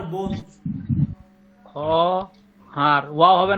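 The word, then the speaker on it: خواهر: খহার বোন, খ হার ওয়া হবে না ওটা? ওয়া উচ্চারণ হবে না তো, বললাম না খহারের তো অ উচ্চারণ হবে না, লেখায় আসবে কিন্তু উচ্চারণ হবে না, হুম।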